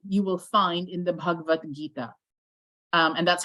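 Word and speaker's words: Bhagavad Gita: will find in the bhagavad-gita um and that's how you pronounce it it's not bhagavaka remember I said yesterday that in Sanskrit we don't pronounce every single a if it was written if you saw it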